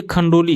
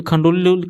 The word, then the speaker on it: खंडोली: खंडोली यहां पे खंडोली खंडोलो लिखा हुआ है। लेकिन इसका उच्चारण जो होगा सही खंडोली बांध किस जिले में स्थित है?